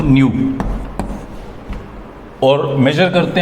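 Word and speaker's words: ν: ये एक सिंबल रहता है इसको रिप्रेजेंट करने का, प्रोनाउंस करते हैं इसको न्यू, और मेजर करते हैं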